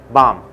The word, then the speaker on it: bomb: And this word bomb and this word bomb are basically the same, pronounced the same in American English. And for God's sake, it's not bum, okay? And it's not bomb, it's bomb.